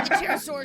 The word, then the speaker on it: pterosaurs: But one day the Pterosaurus... God damn, I gotta remember it's silent. But one day, the pterosaurs simply stopped visiting these parts without even a single word.